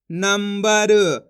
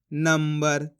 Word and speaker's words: नंबर: नाम अनुस्वार की मात्रा नम ब र, तो मिलके बन जाएगा नंबर। अब अपन ने यहाँ पे भी आधा माँ का उच्चारण करा इस प्रकार से नंबर।